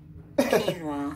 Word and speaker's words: quinoa: It's quinoa. So yeah, so this is how this is pronounced.